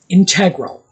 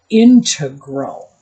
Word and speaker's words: integral: So, I have to revert over to integral, which is actually the pronunciation that is reserved for mathematics.